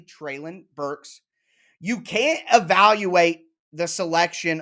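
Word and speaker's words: Treylon Burks: getting tray lon burke's treylin burks to say it correctly trailin burks you can't evaluate the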